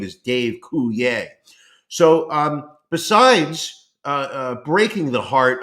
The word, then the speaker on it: Coulier: I have to say Coulier instead of Coulier, which is really, I believe, the proper pronunciation of his name. But he wants to be French, so he says, my name is Dave Coulier.